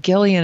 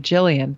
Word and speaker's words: Gillian: started a Gillian, and it bugs me that she pronounces it Gillian instead of Jillian. That just seems pretentious to me.